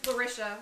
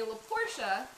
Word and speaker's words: Larisha: My friend's son couldn't pronounce it at first, so he called me LaPortia. And he's 6, right? And so he refuses to believe that my name is Larisha. He still calls me LaPortia.